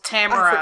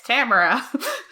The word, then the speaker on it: Tamora: Oh, Tamara, I forgot. like camera.